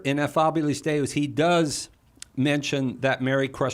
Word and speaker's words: Ineffabilis Deus: Yes, it's Ineffabilis Deus.